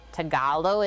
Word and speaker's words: Tagalog: like that i feel washing off my knife tagalo is how it's pronounced let's do like that for the eggies